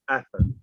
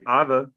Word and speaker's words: Atha: And with that word, it's just always been pronounced atha. You can apply the same rules, but sometimes, just like in English, it depends on the language. So you can say other. I don't pronounce it like that because I've just been